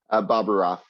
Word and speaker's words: Bobroff: Projects Manager, and Nolan Bobroff. Did I pronounce that correctly, hopefully? Bobaroff. Bobaroff, thanks.